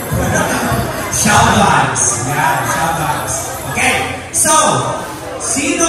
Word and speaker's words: XIAOVIBES: It is pronounced as Shoutouts.